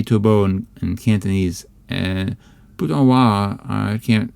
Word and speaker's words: Taobao: People say Tobo in Cantonese, and Putonghua, I don't know how they say it.